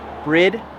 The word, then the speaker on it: BRIDE: the dream of buying bridge seats yes for those of you who don't know it is pronounced brid not bride i know it looks like bride but it's pronounced brid and if you didn't